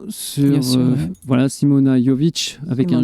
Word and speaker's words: Simona: Donc voilà, si vous voulez apprendre à danser, et puis surtout respirer la joie, voilà, il faut rejoindre Simona Jovic. Simona Jovic. Merci. Parce que le J se prononce Ya.